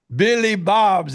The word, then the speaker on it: Billy Bob's: Billy Bob's is how you pronounce it.